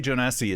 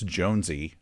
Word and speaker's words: jonesi: I say Jonesi, it turns out it's Jonesy.